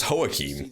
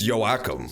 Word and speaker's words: Joachim: Well, is that how you pronounce that name? I thought it was See Joachim. this murderer hang. So, should I It's Joachim. Case, I will let you know.